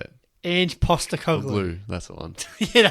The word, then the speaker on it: Ange Postecoglou: Ange Postecoglou.